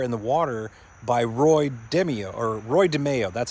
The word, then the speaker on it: DeMeo: He was working for the mafia, and he was ordered to put this car in the water by Roy DeMeo. That's how you pronounce it.